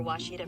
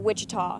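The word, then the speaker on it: Ouachita: Searching for Washita Baptist University. Back in Texas, everybody pronounces it Wichita, but really, it's Washita.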